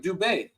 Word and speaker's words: Dubai: that way yeah man it's like dubet we all say Dubai but it's dub come on bro mutas